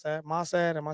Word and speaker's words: Mossad: Maad, am I saying that right? Setting up for a while. At 61 days, Israel attacked." Yeah, Mossad. Mossad, that's how you say that.